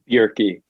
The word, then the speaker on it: Bjerke: say your last name Yorkie think of drinking a beer and turning a key beer tea and today we're talking